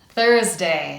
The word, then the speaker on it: Thursday: ths ths ths and that gives us th Thursday. Now we have Friday. Let's look at all of the sounds in our first syllable which is again the strongest syllable.